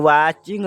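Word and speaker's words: watching: यहाँ पे भी वाचिंग में, वाचिंग माने क्या, टी साइलेंट है तो वाचिंग पढ़ा जाएगा, ING है तो इसको इंग पढ़ा जाएगा, तो वाचिंग क्या हो जाएगा, वाचिंग।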